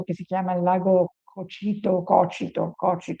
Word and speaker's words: Cocito: Questi traditori per Dante erano tutti immersi nel ghiaccio di un lago che si chiama il lago Cocito, forse no, non c'è l'accento, Cocito.